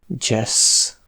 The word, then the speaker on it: dzsessz: Le trigramme DZS se prononce simplement et on le trouve surtout dans des mots empruntés à l’anglais comme dzsessz (jazz).